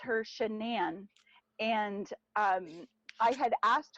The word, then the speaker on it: Shanann: It's not Cindy or it's not Rebecca like it's Shenan. Like some people say it wrong. I've caught myself saying it wrong here and there. Um I've said Shannon instead of Shenan.